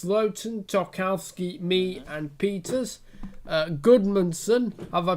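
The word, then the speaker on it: Gudmundsson: Goodmanson, have I pronounced his name right?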